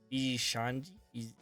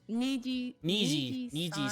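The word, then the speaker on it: Nijisanji: Like definitely VG Shanji, VG Shanji, Niji Niji Sanji.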